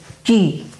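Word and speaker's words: 木: which looks like a tree and it is pronounced as Ki the third kanji they look like mountains they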